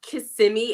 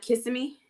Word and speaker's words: Kissimmee: and you live in Kissimmee which is where they ship Puerto Ricans yeah I don't like it I'm sorry it's Kissimmee and not kissing me no yeah only people